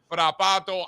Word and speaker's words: Frappato: So, Frappato, highly encourage it.